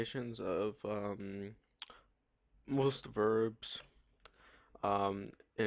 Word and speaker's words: ho: to have EO o I do not pronounce the h if you pronounce the h it will sound like EO ho and EO ho sounds really bad if we're trying to